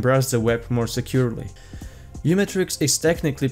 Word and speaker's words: uMatrix: your privacy and browse the web more securely new matrix is technically pronounced as micro matrix same as macro block origin but you metric